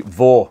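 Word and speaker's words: Vaux: was brewed by the Vore Brewery v-a-u-x I'm not I'm sure that's how it's pronounced it's a French name it means worth and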